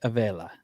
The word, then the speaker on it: Avella: Avella.